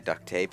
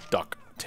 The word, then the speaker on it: duct tape: the the enemies instead I like that brand name by the way duct tape it's just like it it just turned to mispronunciation into a brand name with a mascot and I love it yeah but for long when I was a kid I always called it duck T oh no I did